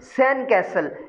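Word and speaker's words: sandcastle: जब आपको इसको इकट्ठे पढ़ेंगे तो डी को साइलेंट कर देंगे, और डी को जब आप साइलेंट करेंगे तो ये बन जाएगा सैंड कैसल।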